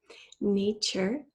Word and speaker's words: nature: Nature has two syllables, a nice open A sound in the first syllable, nay, and then chur, T-U-R-E, chur.